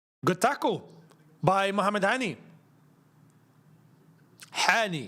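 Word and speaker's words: Hany: Hani, if we're going to say it correctly. Hani. Muhammad Hani.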